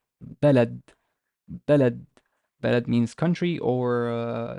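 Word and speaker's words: بلد: has a fatha, and the d has sukun, because as we said, it can be pronounced this way if it's word or speech final. We say balad, balad, balad.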